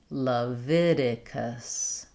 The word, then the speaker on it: Leviticus: Leviticus. Leviticus. It can help to start with the stress syllable like Viticus, Leviticus.